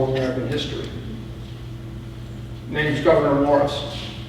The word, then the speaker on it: Gouverneur: His name's Gouverneur Morris. Gouverneur Morris, or Gouverneur, if it's properly pronounced in the 18th century sense.